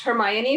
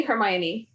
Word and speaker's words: Hermione: it so easy like i would not have pronounced hermione hermione when i read it i'm like oh my god i think i think i read it like hermione and then i'm like oh that's hermione like but yeah like so there were some